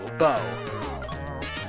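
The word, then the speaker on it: Beau: it's bow it's prince it's spelled b-e-a-u bow and if anybody played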